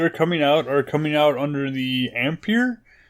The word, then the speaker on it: Ampere: So the rumor is the new cards that are coming out under the Ampere.